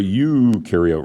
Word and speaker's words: eukaryote: prokaryotes you are a eukaryote remember this is pronounced y-o-u you are a eukaryote which means you have